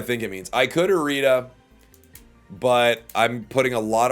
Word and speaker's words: Irida: I think someone said it's like iridescent, so it's like Irida. Irida.